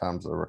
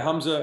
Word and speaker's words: Hamza: Okay, so Hamza, and it is pronounced Hamza, correct? Yeah, Hamza and Chelsea.